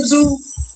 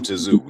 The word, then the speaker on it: Tszyu: Who the fuck is Tim Tszyu? Just because he said that, I want AJ to beat the shit out of him. Just because he pronounced the T in Tim Tszyu's last name.